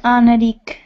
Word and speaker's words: Anarik: Okay, and then we have Anarik. Is that the correct pronunciation? Yeah, Anarik. Anarik. Yes.